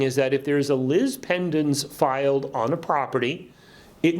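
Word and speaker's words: lis pendens: want to talk about something known as a Liz pendants and that is spelled lis second word pe nd ENS Liz pendants it's actually a Latin phrase that means lawsuit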